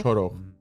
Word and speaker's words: Chorokh: Is that how you pronounce it? Yes. Chorokh? Chorokh.